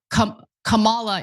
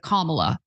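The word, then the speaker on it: Kamala: I wanted to give her the benefit of the doubt because I heard so many people say uh K Camala instead of Kamla.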